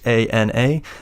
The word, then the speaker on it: Hana: I actually don't know if it's pronounced Hana. It's Hana.